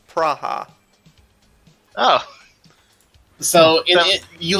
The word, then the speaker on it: Praha: in the world ok the German sciences it's pronounced praha oh so you know you land in the